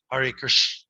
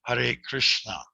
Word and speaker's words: Hare Krishna: to include the rama otherwise you can go hari but you know we're encouraged to say hare krishna right if you want